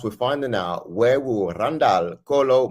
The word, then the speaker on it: Randal: You got to roll the R. Randall.